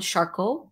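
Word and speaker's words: Charcot: a little bit about jean martin charcoal i think is how you would pronounce his name and he was a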